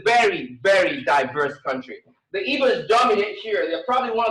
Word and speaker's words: Igbo: And we say Igbo most of the time, but the right pronunciation is IGBO. It's Igbo, which GB is an alphabet in the Igbo language.